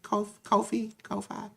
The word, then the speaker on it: Ko-fi: Ko-Fi, I think that's how you pronounce it. Ko-Fi.